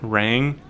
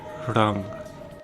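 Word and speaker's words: रङ: Notice how it's not pronounced rang, the English word rang. That's because every time I write a single letter A, it's to denote that sound, so it's pronounced rang.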